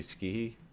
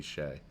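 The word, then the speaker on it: Skjei: that was Brady ski Brady ski sh no I'm sorry Brady Shay there we go Brady Shay I actually looked that one up before the before this uh commentary because I didn't want to say it wrong but I did say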